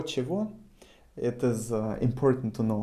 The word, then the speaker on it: чего: Written кого, чего, however pronounced кого, чего, with the emphasis on o.